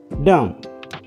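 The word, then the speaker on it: dumb: बी silent आहे डम डम हे वाचताना डम बोलतो फक्त मी बचा बीचा उच्चार नाहीय हा आहे सायलेंट आहे कॉम कॉम कॉम बीच्या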